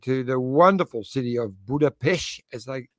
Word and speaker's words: Budapest: Hungary uh and to the wonderful city of Buddha Pesh as they pronounce it over here and it was actually